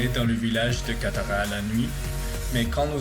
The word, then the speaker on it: Qatar: arabe ici, c'est que le nom Qatar est prononcé Qatar. Ce son n'existe pas dans de nombreuses langues, ce qui rend plus difficile pour les étrangers d'apprendre à le dire correctement.